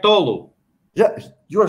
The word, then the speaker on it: Tolu: it right he says but it's correct tolo yeah you are saying it right he says tulu okay it's tolo will you be able